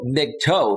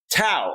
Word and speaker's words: MGTOW: i screwed it up i called it big toe because it's spelled mgtow big toe like towing a car right and it's not mgtow it's mgtow tau like t-a-u right okay and every